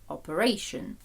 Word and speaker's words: operation: операцію операція сама Operation Також у нас змінюється наголос operate Operation refer направляти referal направлення